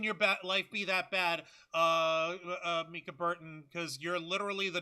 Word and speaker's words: Mica: Micah Burton, or is it Mika? I don't remember. It's pronounced Mika Burton. Mika.